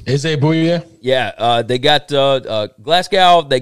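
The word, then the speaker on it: Bouye: Boye? Is it Boye?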